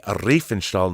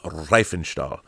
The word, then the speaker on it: Riefenstahl: of showing me that it's pronounced Leni Riefenstahl, not Riefenstahl. I don't know why I'm saying it like that.